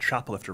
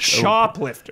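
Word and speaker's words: Choplifter: shop, like helicopter. Chop, like CH. Shoplifter.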